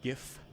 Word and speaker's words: GIF: GIF spelling argument well the reason that gif is pronounced like GIF is because it's is already a word it's not about how the pronunciation of the words in the acronym don't matter at all but we already have a word like what do you give different people on Christmas you gift right that's already a thing